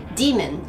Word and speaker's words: demon: 、そしてデーモンはデじゃなくてディって発音します。ディーメン、ディーメン、まあ、